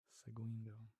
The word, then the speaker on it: Seguindo: Seguindo. Seguindo. Following. Seguindo. So you don't. It's not gua. It's g. Seguindo.